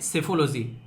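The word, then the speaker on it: psephology: एक टर्म है आप लोगों के सामने जिसको बोलते हैं सेफोलॉजी। यहां पर पी आप लोगों को साइलेंट देखने को मिलेगा और ये काफी इंटरेस्टिंग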